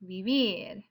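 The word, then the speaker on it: vivir: would be to live it's vivier stress is on the last syllable vivid and there are fewer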